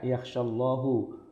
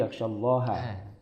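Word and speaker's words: يخشى الله: Padahal seharusnya itu dibacanya bukan innama yakhshallahu, tapi yakhshallaha, ya kan? Yakhshallaha berarti yang takut itu adalah ulama.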